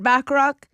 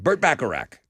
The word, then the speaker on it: Bacharach: heard it here first folks um songwriter Burt bachrock back Iraq back crack back a rack Burt Bacharach now I should know how to say his